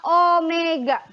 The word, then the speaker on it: Omega: atau simbolnya adalah ini ini dibacanya adalah Omega Omega Jadi bukan W